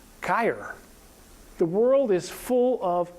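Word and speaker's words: χείρ: And chirality comes from this Greek word for hand, which must be pronounced something like chir.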